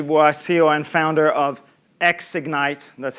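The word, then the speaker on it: Xignite: i'm uh stephanie boy ceo and founder of ex ignite that's how we pronounce the name of the company now how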